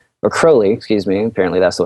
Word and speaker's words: Crowley: Um and the last one I listened to was uh mostly about Alistister Crowley or Crowley, excuse me. Apparently that's the way you pronounce it.